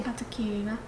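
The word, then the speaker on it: Atokirina: Katakina.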